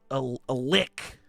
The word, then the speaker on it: lich: for it is a lick. Talking about a lich? Lick. Oh, that's the one. You said it right, dude.